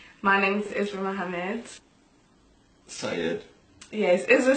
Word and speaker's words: Said: Syed. Yes, Isra Said Mohammed. My middle name is Syed. It's spelled as Said.